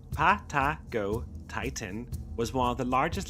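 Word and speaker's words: Patagotitan: Patagot Titan, pronounced Pato Titan, was one of the largest land animals to ever walk the Earth.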